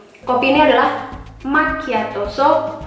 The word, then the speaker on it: macchiato: Jadi kayak macchiato ini kita bukan bilangnya macchiato, but how? Macchiato.